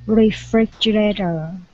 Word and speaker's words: refrigerator: Refrigerator. Okay, all right, so our stress is here. Refrigerator. Dum bum ba da dum.